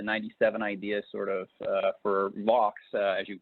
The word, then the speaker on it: Vaux: products and the 97 ideas sort of for box as you pronounce correctly by the way nice our first